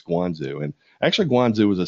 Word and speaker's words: Guangzhou: the town of what in English is Canton, but in Chinese they pronounce it as Guangzhou, and I'm not even going to pretend that I'm pronouncing that correctly with the right accent. But in English sounding, it's Guangzhou, and actually Guangzhou is